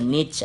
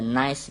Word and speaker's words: niche: Bacanya bisa macam-macam, ada niche, ada nice ya. Nah, saya nyebutnya niche aja lah.